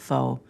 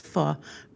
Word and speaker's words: faux: But I don't think they would have been I think a lot of people call it foe. But thank you Tim uh for because Tim is correct. It is fu.